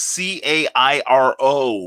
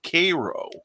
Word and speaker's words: Cairo: in the state is c-a-i-r-o but it's pronounced like the syrup cairo or instead of cairo